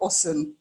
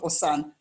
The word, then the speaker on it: OSUN: Society University Network, and it's pronounced, as far as I know, OSUN, right? Not OSAN or something like that.